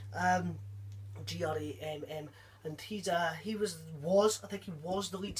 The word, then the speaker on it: Gramm: That's Graham, not like Graham, not like how the Americans pronounce Graham, not the way Americans pronounce Graham. Graham crackers. Graham crackers, exactly, yeah. We say Graham. Gramm.